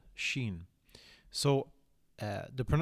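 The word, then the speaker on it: شين: Shen so uh the the letter is pronounced sh so the example word that we will use used then is a very a word very similar to the word which is she okay so it's just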